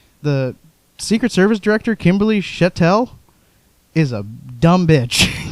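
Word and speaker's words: Cheatle: Secret Service Director, Kimberly Chettel, is a dumb bitch. I don't know if that's how we say her name. It is Shetel.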